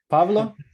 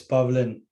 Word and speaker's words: Pavlin: you pronounce it correctly it's pavlin pavlin pavlin yeah yes yeah pauline pablin or pablo it's it's you know